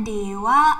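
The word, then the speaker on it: では: akan ganti dengan kata Dewa Arima seng ya walaupun di sini adalah huruf Hiragana ha tapi cara bacanya adalah dewa ya Dewa arimase yang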